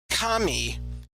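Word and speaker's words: 神: But if we say kami like with a falling intonation kami, it actually means a god.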